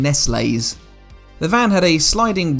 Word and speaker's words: Nestlé: In 1959, when this van was launched, its branding would have been pronounced as Nestles in the UK rather than Nestlé's.